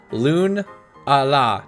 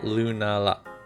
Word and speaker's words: Lunala: Loon-a-la, not Lunala. Loon-a-la.